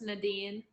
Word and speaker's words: Nadine: we have the lovely naen naen is that how you pronounce your name correct it's pronounced Nadine like no like NAD n all right it says